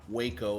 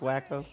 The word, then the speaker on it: Waco: match up there and it is pronounced Waco it's not pronounced wacko that is correct I